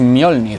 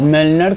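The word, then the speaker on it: Mjölnir: Las armas de Thor es Mjolnir, o Mjolnir como dicen en la canción, ¿vale? Se escribe Mjolnir con esta J, porque que sepáis que en sueco, en las lenguas nórdicas, la J se pronuncia como una I, ¿vale?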